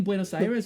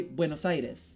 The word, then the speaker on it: Buenos Aires: What, have you been saying Buenos Aires wrong? We say Buenos Aires in Spanish and Buenos Aires in English. That's how you say it. Have you been saying airs? Coño. Okay.